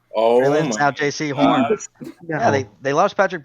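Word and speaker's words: Jaycee Horn: I'm going J.C. Horn.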